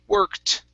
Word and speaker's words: worked: pronounce that e okay in this word we say worked okay and this ed sounds like a t so this is one